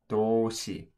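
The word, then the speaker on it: 도시: However, whenever the S letter in Korean is followed by the I letter in Korean, the S letter actually makes a sh sound. So this word would actually say do-si.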